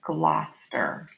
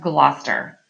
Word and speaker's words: Gloucester: Pronounced Gloucester. We're going to work on that. A lot of English place names and names elide consonants.